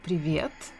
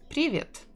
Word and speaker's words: привет: For example, the correct way is to say привет, with stress in the second syllable. But if you say привет, a lot of people will still understand you, especially if you're a foreigner.